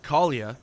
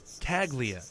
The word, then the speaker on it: Caglia: By the way, it's pronounced Caglia, according to Mike, but everyone else says it Caglia.